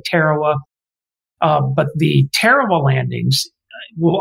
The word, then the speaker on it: Tarawa: islands a place that you will hear veterans pronounce it as tarawa i tend to say tarawa but the terrible landings